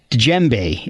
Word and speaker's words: djembe: You play oboe, alto, and baritone sax, and the djembe. Is that, am I pronouncing?